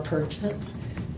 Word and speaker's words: Purchase: my name is purchase just like you're going to buy something spelled the same and I'm a friend